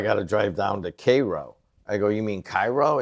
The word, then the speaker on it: Cairo: It's like Cairo, Illinois. It's Cairo. It's Cairo, right, to the rest of America. A really racist area at one time. Well, they call it Cairo.